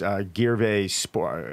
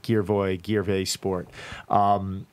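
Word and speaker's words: girevoy sport: But sport, so when you're throwing up, it's pronounced Gierve sport. I can never say the word right. Gierve sport.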